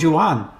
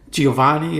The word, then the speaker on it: Giovanni: But they used to call him Juan. Oh, yeah. That's the way they pronounced it. They didn't say Giovanni or Giovan. It was Juan, like that, almost like a whole different thing.